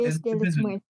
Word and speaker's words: Dia de los Muertos: And today we're talking about Book of Life in honor of Dia de los Muertos. Am I saying that right, Sergio? Dias Muertos. At least, I don't know. Dias de los Muertos.